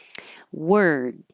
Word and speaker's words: word: World Dove World Dove competition word I'm holding my tongue in the r position and then the D so you can hear the r were before I move it to the d word if I go too